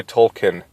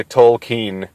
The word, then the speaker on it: Tolkien: and by the way I don't say Tolkien I say toll keen because that's the way he pronounced it and that probably